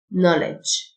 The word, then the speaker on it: knowledge: معرفة Knowledge. الK silent Knowledge.